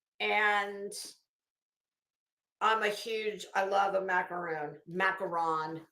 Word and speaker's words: macaron: Macaron is really how you say it.